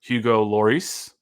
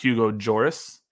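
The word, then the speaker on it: Hugo Lloris: they do have their new goalkeeper Hugo Loris which is not Hugo joris as the the Apple TV commentators kept wanting to say Hugo joris and Daniel shaloy neither of those is how you pronounce the names I don't like it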